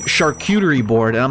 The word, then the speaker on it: charcuterie: it's fine to say charcuterie because that's how you pronounce it in english like that's the designated english pronunciation of it but shark cutery isn't correct i had